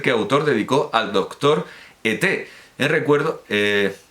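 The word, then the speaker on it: Ethé: autor dedicó al doctor E.T., en recuerdo, no el extraterrestre, sino E-T-H-E con acento agudo, al doctor E.T., en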